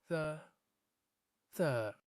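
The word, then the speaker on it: ث: Tha. Put your tongue between the teeth and say it properly.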